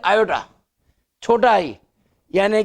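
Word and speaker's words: iota: आप देख रहे हैं इसमें एक टर्म आ रही है आयोटा, छोटा आई, यानी कि आई ओ टी ए, आयोटा। इसका अगर करें ना उच्चारण आयोटा, हम आयोटा शब्द लिखेंगे और उस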